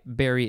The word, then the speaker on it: bury: uh i should specify berry is spelled b-u-r-y it sounds like the berry that you eat just this morning i